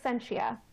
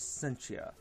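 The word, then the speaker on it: Scientia: Then Sentia. I knew the part. I wasn't sure about the Sentia part. My name is Sentia. I always forget if it's a hard C or a soft C.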